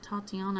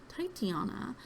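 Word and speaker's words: Titania: I always pronounced it Tatiana and always thought it was Tatiana, but it's actually Titiana.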